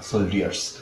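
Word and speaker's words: soldiers: Captain commanded the সোলজার্স, মানে ডি এর উচ্চারণটা হয় না, সোলজার্স, সোলজার্স।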